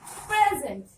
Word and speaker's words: present: Present. Present. If it is a verb, you have to stress on the zent. Present. Present. Present if it is a noun.